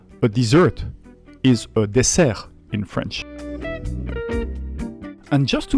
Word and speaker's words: dessert: Same word, same writing, but a very different pronunciation. A dessert is a dessert in French.